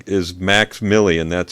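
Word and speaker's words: MVXMILLI: his stage name is max milly and that's spelled m-v-x-m-i-l-l-i i'll say it again m it's like roman numerals m-v-x m-i-l-l-i max milly he's on spotify and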